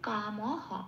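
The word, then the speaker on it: কামঃ: তাহলে আমি শব্দটা কি পেলাম, বিসর্গটা হ দিয়ে প্রতিস্থাপিত করার পর কাম হ, ময় কোনো হসন্ত নেই, ম পূর্ণরূপে উচ্চারিত হলো। তাহলে সেকেন্ড লাইনে প্রথম পাঠে সংস্কৃত উচ্চারণটা কি রকম হলো, সাংগাত সঞ্জায়াতে কামাহা, এটা।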